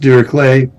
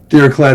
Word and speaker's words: Dirichlet: I've heard it pronounced Dirichlet. I hope I'm pronouncing that right, but I think it's Dirichlet is the way I think it's pronounced. German.